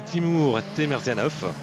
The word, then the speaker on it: Timur Temerzianov: Alors, accrochez-vous, faut le prononcer, c'est Timur Temerzianov.